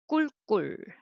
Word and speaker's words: 꿀꿀: 꿀꿀, 꿀꿀. So try to write 꿀, 꿀, 2 syllable, 꿀, 꿀.